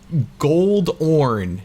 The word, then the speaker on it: Goldorn: It ended up sounding like Goldorn, you know, spelled like that, sort of like Rhyhorn. Goldorn.